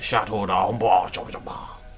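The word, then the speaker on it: Château d'Ombrage: Chateau d'Ambrage. That's how you pronounce it, in case you're curious.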